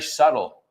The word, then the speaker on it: subtle: Lo difícil es meter la B. O sea Yeah. que nos complicamos la vida para nada. Yeah, it's very subtle. Es muy sutil. La B no se pronuncia Es- tampoco. Subtle. No, subtle. Subtle. A ver si pueden encontrar más, porque seguro que hay más palabras con esa B muda.